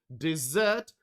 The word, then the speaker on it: dessert: think of your favorite dessert and don't forget that dessert has the stress on the second syllable okay and one more